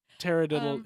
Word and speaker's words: taradiddle: Taradiddle is a noun. Okay. Tarradiddle. There's a part of me like pterodactyl and then fiddle.